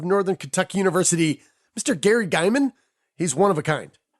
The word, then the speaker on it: Geiman: It is spelled Geiman, but it's not Geiman. It's Geiman. So Gary Geiman.